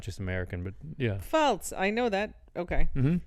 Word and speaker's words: Pfalz: the regions of Rheinhessen, Palatinate, Palatinate. Pfalz. Palatinate? Yeah. That's how you'd say it in German? No, in German it's the Pfalz.